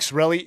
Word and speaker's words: Sarraille: It's actually pronounced Sarraille. Oh, there you go. Sarraille.